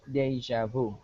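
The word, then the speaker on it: déjà vu: right nope okay not D day is is a v careful the the letter J is J Vu okay Deja Vu okay perfect very good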